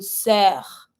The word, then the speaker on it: sœur: That turns into une sœur. Same thing here. Sœur finishing with the R. I pronounce my R.